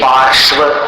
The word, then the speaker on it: पार्श्व: पार्श्व, पार्श्व ऐसा। देखिए तीन व्यंजनों का संयोग है वहां पर। संयुक्त अक्षर में जरूरी नहीं है कि सिर्फ दो ही व्यंजनों का संयोग हो, यहाँ तीन है। देखिए र, श्व और व। श्व, पार्श्व, पा के बाद देखिए रेफ कर रहा, फिर शक्कर का श और फिर व, विहार का व।